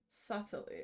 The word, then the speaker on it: subtly: He's subtly... Fuck, I know what that word is, but I never know how to pronounce it. Subtly. Subtly. Okay, we don't say this. The D, the B.